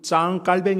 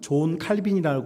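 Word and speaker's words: Jean Calvin: 신학을 시작을 했는데 여러분 짱 깔뱅 이라고는 프랑스 사람 영어식 발음으로는 존 칼빈이 하는 분 이분은 27살에 우리가 알고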